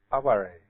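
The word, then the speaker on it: 哀れ: they have a word, it's actually transliterated the same as aware, but it's pronounced aware.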